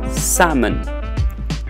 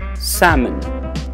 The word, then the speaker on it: salmon: call it salmon so remember the letter l remains silent we call it salmon salmon salmon okay all right next